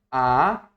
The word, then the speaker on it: acúmulo: Eu, ó, eu a cu mulo. Ó. Ó, eu acumulo. Eu acumulo. É diferente quando eu digo o acúmulo. Olha a pronúncia.